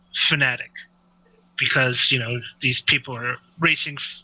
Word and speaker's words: Fanatec: Thomas Jackermeyer, and asked him how it was pronounced, and he said technically it's Fanatic, because these people are racing fanatics, so that's how it's supposed to be pronounced.